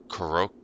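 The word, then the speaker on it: korokke: A koroke. It's like a Croquette. Japanese. No, it's a Oh, no. Croquette. K-O-R-O-K-K-E. Croquette, but like it's the Japanese it's croquette pronounced in Japanese.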